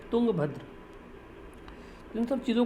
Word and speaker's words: तुंगभद्र: River लिख दूँ मैं, तो रिवर का नाम है तुंगभद्र, या फिर तुंगभद्रा भी लोग बोल देते हैं, बट अगर हम राइट प्रोनाउंसिएशन की बात करें तो तुंगभद्र है।